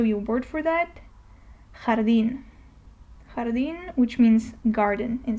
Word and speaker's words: jardín: Let me show you a word for that, jardín. Jardín, which means garden in Spanish. So the jota is always pronounced like the flu H, so you kind of